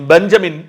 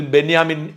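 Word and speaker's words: בנימין: Israel പ്രധാനമന്ത്രി ബെന്യാമിൻ Netanyahu ഞാൻ ഒരു ക്ലാരിഫിക്കേഷൻ നൽകട്ടെ പലരും എന്നോട് ഷാജൻ തെറ്റായി ബെന്യാമിൻ എന്ന് പറയുന്നു ബെഞ്ചമിൻ എന്നാണ് പറയേണ്ടത് എന്ന് അറിയിക്കാറുണ്ട് വാസ്തവത്തിൽ ബെന്യാമിൻ എന്നാണ് അദ്ദേഹത്തിൻറെ പേരിന്റെ ഉച്ചാരണം ബെഞ്ചമിൻ എന്നല്ല ബെഞ്ചമിൻ എന്നാണ് പേര് എഴുതുന്നതെങ്കിലും അദ്ദേഹത്തിൻറെ പേരിന്റെ പേര് ബെന്യാമിൻ എന്നാണ് നമുക്ക് ഇഷ്ടമുള്ള തരത്തിൽ ഒരാളുടെ പേര് മാറ്റാൻ സാധ്യമല്ല ഹീബ്രുവിലെ ഉച്ചാരണമാണത് അദ്ദേഹത്തിൻറെ പേര് ഹീബ്രുവിലാണ് അതുകൊണ്ട് അദ്ദേഹത്തിൻറെ പേര് ഉച്ചരിക്കേണ്ടത് ഹീബ്രുവിൽ തന്നെയാണ് ഇതുപോലെ തന്നെ പാലസ്തീൻ എല്ലാവരും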